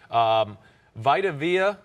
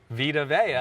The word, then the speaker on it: Vita Vea: Vita Vea, I always say his name wrong. Vita Vea.